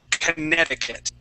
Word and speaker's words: Connecticut: yeah so it's contic contic contic Connecticut Conneticut that's it okay so that I believe there there's a c in there it's actually it should be pronounced connect Connecticut but uh as you